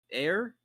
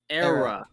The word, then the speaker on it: Eire: How do you say it again? Air? Eire. Era. ERA. Kind of like Yeah. the Mesozoic era.